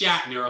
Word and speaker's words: Shatner: It's not pronounced Shitner, it's pronounced Shatner, okay?